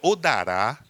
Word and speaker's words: Odara: Porque também, então, Odará, né, que seria mais ou menos a pronúncia mais próxima é esse entendimento afrocentrado de estética na arte.